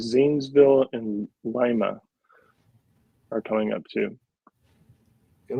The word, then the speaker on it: Lima: It's Lima, but I heard something the other day who said something like, "Oh yeah, gotta go over to Lima." I'm like, that's the pronunciation of it in Peru, but not in Ohio.